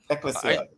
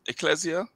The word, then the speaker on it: Ecclesia: Ecclesia. It's taking the Greek pronunciation.